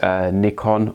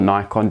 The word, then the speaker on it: Nikon: You may use Nikon or Nikon, depending how you pronounce it, or a Sony mirrorless camera.